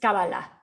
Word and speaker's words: cábala: cuestión de fonética ya la palabra en hebreo es cábala pero cuando empezamos con